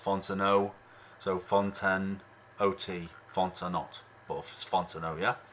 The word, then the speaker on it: Fontenot: like Isom but it's Isom Isom and then fontanot but it's pronounced Fontenot so fonten OT Fontana yeah um if you